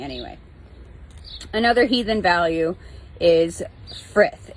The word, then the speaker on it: frith: Another heathen value is frith. It's spelled F-R-I-D-H, but is pronounced frith, F-R-I-T-H.